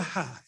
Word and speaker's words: Hei: can be helpful right now mark van der hai his and is on astronaut duty at the